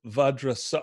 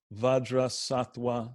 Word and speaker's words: Vajrasattva: So Om Vajrasattva. Oh, this V is pronounced more like a W.